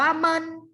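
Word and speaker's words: 们: นึง อ้า ตรง ละ คำ นี้ อ่าน ว่า เมิน เมิน เป็น เสียง เบา นะ คะ ออก เสียง ว่า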